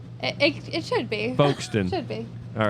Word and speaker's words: Folkston: pronouncing the L but you don't pronounce the L FK F say folon Folkston with no l correct but it should be folston it it it should be folon should be all right